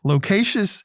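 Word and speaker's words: loquacious: more locatious than me locatious is l-o-q-u-a-c-i-o-u-s three syllables using it as an adjective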